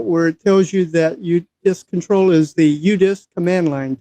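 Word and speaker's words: udisksctl: command u d i k sctl I've been pronouncing it udisks control and you'll see I've got two terminals up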